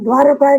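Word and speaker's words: দ্বারকা: নব নবরূপে এসো প্রাণে এই এই তারপরে তারা দারকায় গেল দেখুন নামটা আছে আছে রুবত থেকে নেমে দয়ারকায় গেল দারকা গুজরাতে এখনকার উচ্চারণে বলতে হবে দয়ারকার গুজরাত ত নয় তারপর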